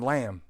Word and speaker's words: Lam: Some people pronounce Lam. Lamb. I only hear a few people pronounce it correctly. Oh, is it is it supposed to be called Lam?